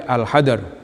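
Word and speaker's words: الحدر: Bacaan yang kedua adalah al-hadar bi fathil ha'i wa sukunid dali al-muhmalatain. Dengan bacanya al-hadar dengan fathah haknya dan sukunnya dal, bukan hadar tapi al-hadar.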